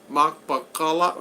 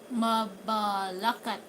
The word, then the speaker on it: Mabalacat: I'm looking for picking up some units in Makpakala. How do you say that? Mabalacat in Pampanga.